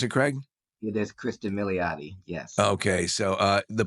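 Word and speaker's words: Cristin Milioti: Sophia Kristen uh mottis is that how you pronounce it Craig it is Kristen motti yes okay so uh the performance is amazing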